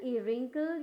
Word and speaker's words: wrinkle: के टाइम में आपको WRAP, रैप, WRITE, right, WRINKLE, रिंकल, या फिर WRONG, रॉन्ग। यहाँ आर जितने भी आप देख रहे हैं ये सब एक रूल्स है, जिसकी वजह से आपको क्या पता चल रहा है कि W क्या हो गया, साइलेंट हो गया।